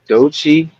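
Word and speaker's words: Doechii: I think it's do DOI yeah DOI like do like deer and then Chi like CH yeah yeah DOI yeah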